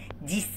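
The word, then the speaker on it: dix: ديس الاكس هنا هو تدينا صوت الاس.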